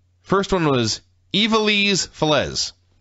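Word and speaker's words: Ivelisse: names first one was ivelise yeah pronounced evil ease so she according to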